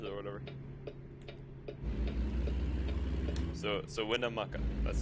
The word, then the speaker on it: Winnemucca: So Winnemucca, that's how you say it.